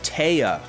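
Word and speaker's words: Téa: do not remember t t is it like Tia Tia is that it's pronounced like oh TAA TAA I see it was spelled t with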